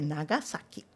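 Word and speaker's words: Nagasaki: E quando está escrito em S, em letras romanas, é sempre o som de s. Então é Nagasak.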